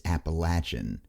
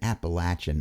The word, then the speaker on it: Appalachian: to time what yes I know the quote unquote real pronunciation is appalachin but an Appalachian Appalachian just isn't funny well that one took a